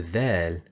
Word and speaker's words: د: To pronounce the letter dal, the tip of the tongue needs to hit the upper front teeth.